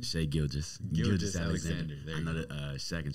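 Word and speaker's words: Gilgeous-Alexander: The reserves consist of Shea, how do you pronounce his last name? Shea Gilgeous Alexander. I know that Shaq and Charles Barkley like to call him Gilchrist Alexander.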